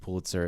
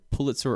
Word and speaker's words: Pulitzer: So Marcus is telling Pigeon that there's two pronunciations of Pulitzer. It's either Pulitzer or Pulitzer, and both are correct.